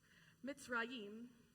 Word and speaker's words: Mitzrayim: Now, in Hebrew, the Hebrew word for Egypt is maybe pronounced like this, Mitzrayim, which roughly translates to